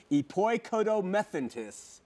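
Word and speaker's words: ἐποικοδομηθέντες: If you look at the Greek word here, which is epoikodo, excuse my pronunciation, epoikodomethentis, that's how you say it, okay?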